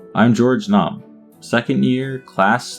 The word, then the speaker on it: Nome: George Gnome. Or Nom, I guess is how you say it. I'm George Nom.